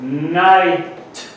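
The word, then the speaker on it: knight: that we pronounce it night basically you pronounce three letters in here out of a six letter word the recipes fall into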